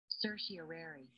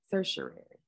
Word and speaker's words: certiorari: So we know how to pronounce things correctly. Certiorari. Certiorari.